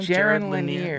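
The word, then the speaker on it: Jaron Lanier: Jiren Laneir.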